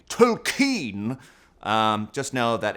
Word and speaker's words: Tolkien: I don't think any of us are pronouncing it right. I'm not a monster. New canon, J.R.R. Tolkien.